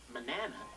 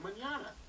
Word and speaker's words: mañana: It's a symbol you put over the end to change the pronunciation. Without it, the word would be said incorrectly as manana instead of mañana.